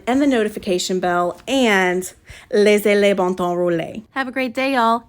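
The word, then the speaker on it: Laissez les bons temps rouler: This phrase is pronounced Laissez les bon temps rouler.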